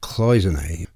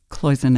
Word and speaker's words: cloisonné: the first pronunciation is cloisonne and I think that's because that's an American distortion of the French and I chose it